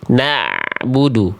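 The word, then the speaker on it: نعبد: Na na'budu tapi na'budu na'budu na'budu tipis dia. Tipis dia bukan no na.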